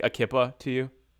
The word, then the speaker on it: kippah: threw me off there cuz I I pronounce it keepa oh sorry or keep ah but because you're because